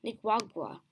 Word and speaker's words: Nicaragua: Nicaragua.